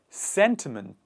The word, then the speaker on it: sentiment: photographer next one is sentiment sentiment what are sentiments sentiments are one person's emotions this the stress is on the first part and the initial part of the word sentiments and when we combine